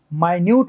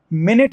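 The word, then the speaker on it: minute: ऐसे कॉन्डक्ट है तो नाउन है, कंडक्ट है तो वर्ब है, माइन्यूट है तो सूक्ष्म है, मिनट है तो 1 घंटे का 60वां भाग है।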